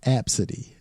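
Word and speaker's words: Abcde: this chick was going to name her child absidy absidy yeah but it's spelled AB bcde E I mean [ __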